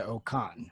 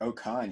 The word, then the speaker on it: O-Khan: osprey and the great oh karn i'm pronouncing that correctly it's changed it to officially to ocon great oh khan yeah it changed his